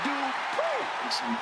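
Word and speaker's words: Dupri: Michael, it's pronounced Dupree.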